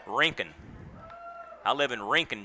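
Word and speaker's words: Rincon: high for a ball now there's a town in Georgia that is spelled r i n c n which is the way Jr spells his last name they call it rinken I live in rink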